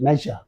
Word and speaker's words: measure: phonetic transcription and uh this s is giving this ja sound in this word okay clear the same